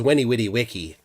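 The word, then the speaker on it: veni vidi vici: Gish Gallop so but the real one is Winnie witty Wiki and yes you pronounce the V with a W sound in in Latin French though in French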